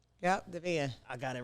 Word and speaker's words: Devan: Yep, Devan. I got it right. I definitely said that. I be like Devan. Devan. Spell it. It sounds just how it was spelled.